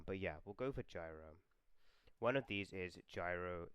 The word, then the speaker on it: Gyro: So, I'm going to go for Gyro because obviously he's named as in the word gyate, which is pronounced with a J sound, but I think in my head I've been saying Gyro quite a bit.